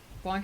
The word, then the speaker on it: Blanc: Blanc is pronounced in a way I can't actually convey with English phonetics because the a isn't really a sound we have ber snatch cumberbunt